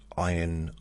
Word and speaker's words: iron: British handmade iron. Iron Mungery. Iron. Iron. I heard someone pronounce that iron as iron. You don't pronounce the R.